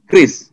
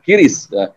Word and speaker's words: QRIS: Ada bahasa Bali nih Mas, ngiring sareng ngagen QRIS. Apa artinya? Sama-sama ayo menggunakan QRIS. Hati-hati, harusnya QRIS di sini ya, bukan QRIS. Kalau QRIS di sini ada QRIS. Jadi bacanya QRIS ya Pak ya? QRIS ya bacanya.